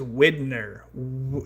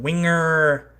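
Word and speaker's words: Widenar: Blue Fox character Cody this guy's named is Widner. W I D E N A R. Widner. Like, it's a weird name. But the voice actor doesn't know how to pronounce his name, so he just calls him Winger at at one point earlier in the movie.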